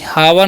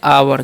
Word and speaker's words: hour: HOUR है, इसका चन ह, ओ यू का चन आव, तो हो गया हा, सॉरी हावर नहीं, यहाँ पे इसका जो एच साइलेंट होता है, इसलिए हम पढ़ते हैं आवर।